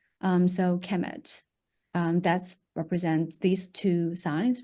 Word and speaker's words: Kemet: So it's KMMT, actually spelled just pronounced as Kemet, but it's actually written KMMT.